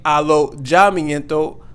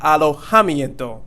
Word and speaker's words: alojamiento: And here we're not going to say alojamiento, but alojamiento. So the J here, or the J, makes that H sound.